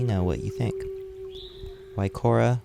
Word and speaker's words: Guaycura: what you think by Korra which is pronounced with the silent G is a real name